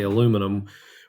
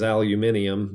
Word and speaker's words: aluminium: You say aluminum, we say aluminum. If a kid says aluminium, that is correct.